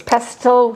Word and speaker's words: pestle: Now, I have a mortar and pestle, and I used to think it was pestle pronouncing the T, but it isn't.